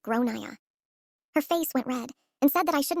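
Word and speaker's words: Gráinne: She asked what I meant and I said, "Well, in Ireland, they typically pronounce it like Grainne."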